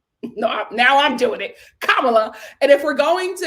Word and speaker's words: Kamala: her name wrong and pronounce it as Kamala it's pronounced Kamala and they pronounce it Kamala as a subtle form